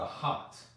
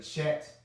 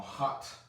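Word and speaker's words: chet: the bottom right here this is the hot some people say chat that's wrong that ch makes a h sound it makes a h sound but when you spell it i do put the ch so you'll see that it belongs there but it's actually another h sound or hot hot it's more guttural a lot of people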